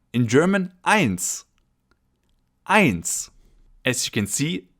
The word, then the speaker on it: eins: In German, eins. Eins. As you can see, the letter E followed by the letter I in German is always pronounced I, as in eins, 1.